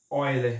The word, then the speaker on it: Euler: O número de Euler, que se pronuncia Euler, né?